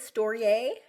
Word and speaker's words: Storyay: So I want to kind of jump right in and give listeners first an idea of what is stoier. Is that how you pronounce it? Storiier.